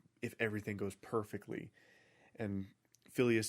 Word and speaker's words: Phileas: Now, I always thought it was Phineas, but the way it's spelled in this book is Phileas, so okay.